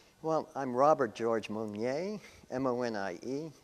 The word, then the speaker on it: Monie: Well, I'm Robert George Monie, M-O-N-I-E. It's a French name, usually mispronounced Monie.